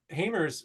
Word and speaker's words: Hamer: It's John Hamer's sister. Oh yeah, I'd say Hamer's. Yeah, Hamer's. Did I get it right? Yep, yep.